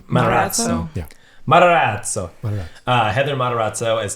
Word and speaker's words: Matarazzo: Personally, want to give it to Heather Matarazzo. I don't know how to say her name. Matarazzo. Matarazzo.